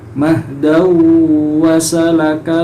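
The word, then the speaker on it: مَهْدًا وَسَلَكَ: Alladzi ja'ala lakumul arda mahdan wa salaka lakum Nah, di situ ada tanwin berupa fathatain ya, bertemu dengan huruf wawu. Nah, ini termasuk idgham bihunna. Jadi bacanya harus mendengung ya. Mendengungnya itu masuk ke huruf wawu. Mahdaw wasalaka lakum.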